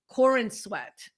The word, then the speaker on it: Corenswet: So the new actor for the new Superman is David Corenswet.